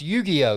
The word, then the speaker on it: Yu-Gi-Oh: uh that is pretty cool yu-gi-oh so it's pronounced yu-gi-oh yu-gi-oh cards yu-gi-oh cards very very cool got